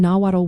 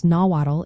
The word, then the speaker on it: Nahuatl: The TL combination is pronounced as a single sound, similar to the TL in the word battle.